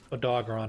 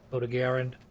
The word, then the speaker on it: Odogaron: Odogaron. Sorry. I'm gonna go back and forth between calling it Doggeron and Odogaron. Because I think that's actually how you're supposed to pronounce the word.